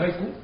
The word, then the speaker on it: haiku: Pero, un japonés pronuncia, dice haiku con J. O sea, el sonido del haiku se parece más a la J.